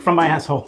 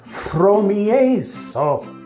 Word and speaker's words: Fromiaso: Hello, Mr. From My Asshole. It's Fromiaso. What? Fromiaso. That's how you say my name.